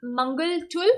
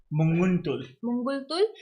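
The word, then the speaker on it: Munguntuul: Even though Humpy's opponent, that is I think Mangaltul. How do you pronounce the name? Mangaltul. Munguntul.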